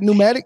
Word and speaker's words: pneumatic: I don't pronounce it pneumatic. It's a P in front of it. No, it's pneumatic.